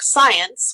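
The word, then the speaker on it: Psience: years ago he read my book science which is spelled PSI n c and it's sort of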